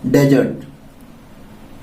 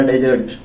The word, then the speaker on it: dessert: इसका right pronunciation है डिजर्ट।